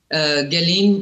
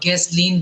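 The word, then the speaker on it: Ghislaine: देखिए, उसकी Jeffrey Epstein की जो कॉन्फिडेंट है, जो अब जेल में है, गैलीन और गैसलीन दो प्रोनाउंसिएशन है, उसकी फ्रेंच औरत है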